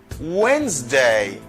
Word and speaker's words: Wednesday: difficult for some people is it like this witness day no it's wednesday wednesday wednesday because d is silent now i have silent